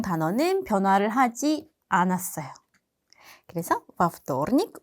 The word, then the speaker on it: во вторник: 그리고 여기서 중요한 거, 전치사에는 강세가 없다. 전치사를 발음할 때는 뒤에 명사랑 한 단어인 것처럼 발음을 해야 한다. 근데 вторник의 강세가 o에 있기 때문에 a로 발음을 해서 во вторник가 되는 거예요. во вторник у меня был экзамен.